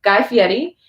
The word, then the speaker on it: Guy Fieri: And unlike Guy Fieri, we've been corrected on how to pronounce his name, so I will pronounce it correctly now. Guy Fieri, we didn't get a copyright claim, so...